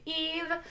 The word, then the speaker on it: Eve: welcome to my stream my name is Eve that is why ves Eve the S is silent if you are watching